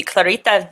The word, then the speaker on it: Clarita: And I think if we wanted to do the super correct pronunciation, it would be Clarita Villanueva. But we're just going to call her Clarita for this.